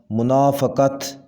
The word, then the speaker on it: منافقت: ظرف، صحیح تلفظ ہے ظرف، ظرف۔ منافقت، صحیح تلفظ ہوگا منافقت، منافقت، منافقت۔ بھروسہ، صحیح تلفظ ہے بھروسہ، سین